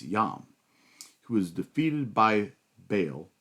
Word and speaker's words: Baal: In this case, Yam who was defeated by Baal or Baal is a probably more accurate transl way to pronounce it, but more popularly referred to as Baal.